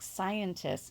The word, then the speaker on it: scientists: But I keep seeing students try to say something like scientists. Scientists agree, but they'll leave the S off. And I know we don't pronounce it with emphasis on that last S, but it is there.